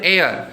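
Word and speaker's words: heir: तो यहां पे एन एयर तो यानी एच जो है एच यहां पे क्या हो गया साइलेंट एन एयर का उच्चारण हो रहा है उसमें एच साइलेंट हो गया है और ई से जो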